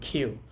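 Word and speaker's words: きゅう: আপনি কিউ বললেও ভুল হবে না। কিন্তু ওরা বলে খ এর মত। খেউ।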